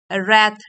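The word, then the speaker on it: wrath: tense है thought सोचना रथ W silent है एंगर गुस्सा एटिक डिवाइन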